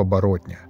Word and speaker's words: оборотня: дело рук вернее лап оборотня да именно так с ударением на третьем слоге называли его старушки некоторые